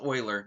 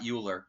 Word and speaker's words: Euler: It's pronounced Oiler, not Uler. Looks like Uler.